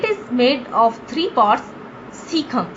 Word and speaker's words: cecum: Cecum. Sorry students, in my previous lecture I pronounced it wrong. Its pronunciation is cecum, colon and rectum.